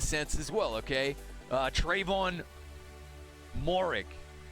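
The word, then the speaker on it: Moehrig: Trayvon Morik. Pronouncing it correctly. Apparently. Not the European way of saying it, but he wants it said that way, so we're going to say it.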